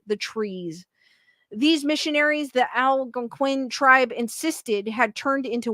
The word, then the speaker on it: Algonquin: These missionaries, the Algonquin tribe insisted, had turned into Wendigos and started killing their fellow men.